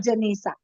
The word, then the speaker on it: Janisa: I you you said my name wrong throughout the whole speech but I'm sorry. It's okay. Can you please your name ma'am? Janisa. Yes. My name is Janisa.